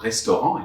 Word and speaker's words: restaurant: Now, you notice that when I say le restaurant in French, there is a final T that I don't pronounce. However, in English, you say the restaurant. So you hear that T.